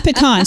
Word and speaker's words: pecan: a a pecan uh Diamond it's not it's pecan so if you know how to say it